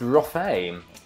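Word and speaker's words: Rothe: Oh, pronounced Rothay.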